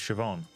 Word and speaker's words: Siobhan: that either thank you it's pronounced siobhan see i've seen that name before and like learned that it's supposed to be pronounced that way and then i then